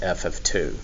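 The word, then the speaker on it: f(2): Then this is going to be pronounced as f of 2.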